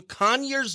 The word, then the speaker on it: Conyers: And it is Cole Bradford, country musician, currently out of Nashville, but originally from Conyers, Georgia. Is that right? Did I pronounce that right?